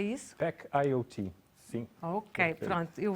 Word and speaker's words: Pack IoT: E que tem a empresa do Cristiano é Pacaiota, é isso? Pack IoT, sim.